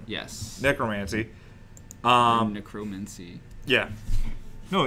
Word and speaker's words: necromancy: Or Necromancy. Yeah. No, it's necromancy. Yeah, it's probably just necromancy. Yeah, it's necromancy. Fuck you, Greg. The emphasis is on the first syllable.